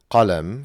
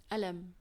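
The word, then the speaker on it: قلم: And in the Egyptian dialect as well, they don't pronounce the qaf. Yeah. So qalam, for example, which is pen, becomes Alam.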